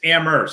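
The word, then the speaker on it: Amherst: to correct you it's ammer don't pronounce h you got to be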